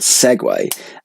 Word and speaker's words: segue: What I'm saying is, earlier we were thinking about the word segue, and I did not realise segue is spelled S-E-G-U-E, as in segu.